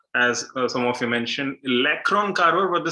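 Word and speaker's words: Le Cron: Yeah, we assume that since it is pronounced as Lacron, it is L-A-C-R-O-N, but no, it's not L-A-C-R-O-N. You can check out the spelling in the comment section now. It is L-E space C-R-O-N, Lacron carver.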